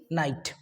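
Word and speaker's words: knight: सो इन सारे वर्ड्स में हमने किसको साइलेंट किया? के को। क्यों? क्योंकि इसके तुरंत बाद किसका कॉम्बिनेशन मिल रहा था आपको? एन का।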